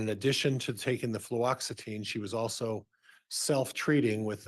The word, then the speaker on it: fluoxetine: Fluoxetine.